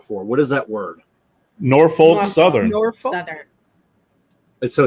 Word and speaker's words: Norfolk: So you say the L, the Norfolk? Yeah. No, you didn't say it. Norfolk. I did. You say it like Jersey. Norfolk. Yeah, well, Norfolk. So you pronounce the L. Okay. I it's one of those words that wherever you go in the country, whether they pronounce the L or not.